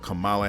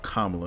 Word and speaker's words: Kamala: of you know what kamala harris or kamala excuse me the right pronunciation and the republican senator